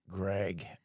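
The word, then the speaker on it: Greig: Greg, but it's spelled the same way as Edvar Grig.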